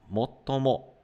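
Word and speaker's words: もっとも: Pronuncia assim, ó, motomo.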